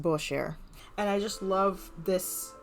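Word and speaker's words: Mainbocher: um is from the fashion designer Maino Booker it's actually pronounced buer and I just love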